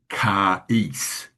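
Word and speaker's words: χάρις: The pronunciation is given as KHAR apostrophe hyphen ECE. So that would imply to me charis, though it's the same word that when you add an MA, you've got charisma.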